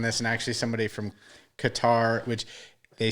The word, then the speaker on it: Qatar: so um the product correct pronunciation of the country has always been qatar but everybody in the u.s has always been calling it katar for for years and